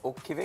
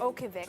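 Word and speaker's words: Utqiagvik: But but so what's what's How do you pronounce it? Oogivik. Oogivik. Uh Oogivik, right? So, actually the sun does set, but literally for for a split second.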